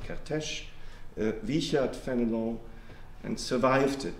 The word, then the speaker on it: Kertész: Levi Wiesel Kertész, as an Hungarian friend told me, I have to pronounce him Kertész, not Kertész.